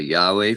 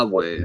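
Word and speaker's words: Huawei: You said a Yahweh phone. Awe. H A a way. Okay. Yeah. Spelled weird, too. It's spelled with an H.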